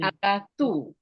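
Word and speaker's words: ἀγαθοῦ: This is diphthong. Diphthong means two vowels, omicron and ypsilon. This is vowel. This is two vowel make one sound. Two vowel make one sound. This is u, not o. This is u. Okay, so then agatu.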